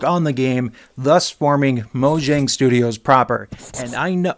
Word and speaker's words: Mojang: the game, thus forming Moang Studios proper. And I know I know there's people out there that are like, "You're saying it wrong. You should be saying it like Mo Yang, not Mo Jiang.